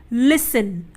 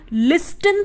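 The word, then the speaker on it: listen: एस टी आई एन लिसन अब यहां पर आखिर में क्या ए रहा है तो यहां पर हमारा टी साइलेंट रहेगा कैसे हम क्या बोलते हैं लिसेन बोलते हैं हम लिस्टरइन तो नहीं बोलते ना तो यहां पर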